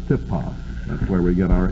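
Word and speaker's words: τύπος: Tupos, or if you want to spell it out, usually the upsilon is transliterated as a Y in English, T-Y-P-O-S, tupos. We would pronounce it tipos.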